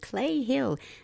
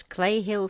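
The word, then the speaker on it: Cley Hill: There's a bizarre clip filmed above a place called Clay Hill near Frome, Somerset. They spell that C-L-E-Y. In this Clay Hill footage, you can see a strange object as it ultimately hurtles to the ground.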